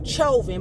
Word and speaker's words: Chauvin: a newscast to say his last name was chauvin i say try you then i pronounce it how i see it but she said derek chovin but we're gonna call